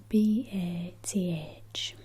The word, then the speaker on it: bath: south of England is to ask them to pronounce the the word spelled b a t h so I would say it bth but a